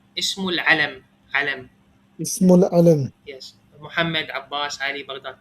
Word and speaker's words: اسم العلم: Ismul alam.